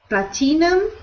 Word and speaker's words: platinum: Platinum. So we pronounce that word with no I sound. We ignore the I.